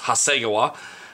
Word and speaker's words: Hasegawa: is 148 scale and it's by Hasegawa or Hasegawa I've heard some of my Japanese friends tell me that it's pronounced Hasegawa here in America we say Hasegawa at any rate this